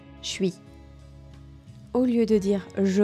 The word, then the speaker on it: je suis: Au lieu de dire je suis, c'est même prononcé comme ça, je suis.